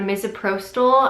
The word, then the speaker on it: misoprostol: I looked up a ton of videos on misoprostol I believe is how you pronounce it so the way it works is